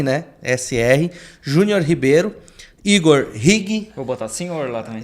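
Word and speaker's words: Righi: Igor Rig, tá? Se lê como se escreve, tá? R-I, tá? G-H-I, tá? Igor Rig.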